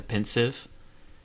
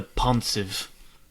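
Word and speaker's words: Pensieve: One thing that got me like I was like there it was a per pronunciation that Snape used of the word the pinsive. He's like take this to the ponive.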